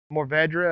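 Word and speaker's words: Mourvèdre: these things pushing through these are more ved more vedra if you want to be the correct way to say it that's the same variety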